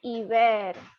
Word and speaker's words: hiver: We pronounce it as au hiver. H is silent.